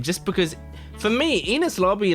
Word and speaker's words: Enies Lobby: I've been calling it Enis lobby, but I think it's Enies lobby.